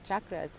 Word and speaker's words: chakra: for that about I'm glad you mentioned the chakras because and the pronunciation is Chuck much right Chuck dreadknot chakra